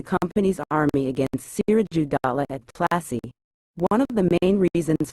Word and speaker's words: Plassey: Plassey is an anglicized pronunciation of Palashi, and the place derived its